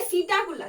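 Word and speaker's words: Psittacula: Then उसके बाद क्या आता है, सीटाकुला। देखो यहाँ पर पी साइलेंट होता है, इसको क्या लिखते हैं हम लोग, लिखते हैं सीटाकुला, सीटाकुला, सीटाकुला, जिसका मतलब क्या होता है, जिसका मतलब होता है पैरट।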